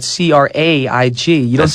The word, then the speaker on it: Craig: I said, well, the word Craig or the name Craig is spelled C-R-A-I-G.